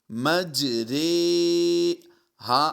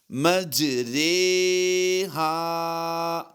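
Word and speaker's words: مجریها: کی طرح پڑھیں گے، یعنی را کھڑی زیر ری نہیں پڑھیں گے، بلکہ را کھڑی زیر رے پڑھا جائے گا۔ اگر اس کے ہجے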